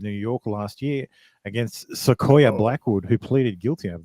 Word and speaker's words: Sequoia: I assume that's how you say it. It's Sakoya.